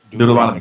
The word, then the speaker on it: Deuteronomy: The Can one of y'all pronounce that for me? Deuteronomy.